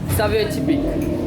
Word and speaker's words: Saveur Tipik: Saveur Tipik Saveur Tipik.